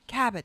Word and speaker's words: Kabat: yourself tell us tell us who is Jacqueline kabat did I say that right kabat K you